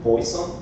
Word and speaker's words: Poisson: So this is fish in French. I try to learn the pronunciation, Poisson.